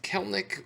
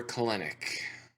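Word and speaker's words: Kelenic: But I'm looking at who I'm hoping has a rebound here is Jared Kelnick. We're looking, Is it pronounced Kelnick or Kalenic? I believe it's Kelnick. All right.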